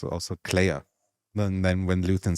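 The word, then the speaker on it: Kleya: Oh, he says like Clea. Her name is Clea with a K and then Y. Yeah. But yeah. So, but yeah, the way he pronounces. Right. Yeah. So the way he pronounces it is always sounds like Leia.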